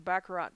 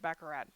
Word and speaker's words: baccarat: baccarat or baccarat i think i've always said baccarat but i'm also a midwesterner and they keep saying baccarat they don't even say the t at the end so i'm super not